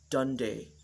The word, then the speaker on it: Dundee: Lexi Campbell comes from the city of Dundee, or as Dundonians would pronounce it, Dundee, using both of their 2 vowels.